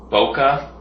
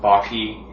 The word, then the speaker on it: bokeh: technique is known as boka um people pronounce the the word in different ways some people pronounce it Baki some people pronounce it like Boke so um you can call